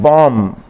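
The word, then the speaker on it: bomb: और दूसरा लफ्ज़ है बॉम्ब, बॉम्ब। इसमें बॉम्ब नहीं कहेंगे, बी नहीं बल्कि एम पे आके आपने ठहर जाना, बॉम्ब, इसकी साउंड है।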